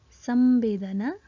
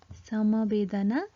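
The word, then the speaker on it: संवेदना: Pronounce using Okay, so the pronunciation of this word is Sambedana, Samabedana or Sambedana.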